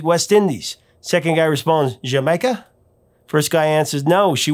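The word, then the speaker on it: D'yer Mak'er: the song is jamaica in the uk the song was pronounced jamaica but in america the song was always mispronounced either referred to as deer maker or a dire maker i mean i'll admit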